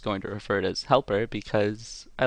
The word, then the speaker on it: Hjälper: and used hey guys' yelper which is the correct sweetest pronunciation but for the remainder of this video I think I'm just going to refer it as Helper because I like to